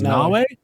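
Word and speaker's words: Naoe: It's spelled like Mayo, but I think they said it was Nawe. It is The Nawe.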